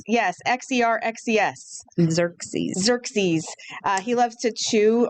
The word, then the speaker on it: Xerxes: Xerxes. Xerxes. He loves to chew on his favorite snacks, the zoo says. He loves to play. He loves watermelon, cantaloupe, pears, and celery. So do I. Xerxes, so do I.